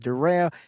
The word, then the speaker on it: Darryl: Sounds like different, spelled like Darryl, pronounced Darrell.